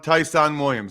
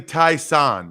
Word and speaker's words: Tyson Williams: two things on on tyson williams number one since i called the game it's definitely tai san like s-a-h-n tai san william tyson williams you know i had after